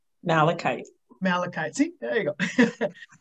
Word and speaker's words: malachite: going to say it wrong the green stone matcha light malachite malachite see there you go um and a